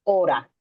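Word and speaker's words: hora: Esto se llama la danza ora que se se escribe H o R a, que esta danza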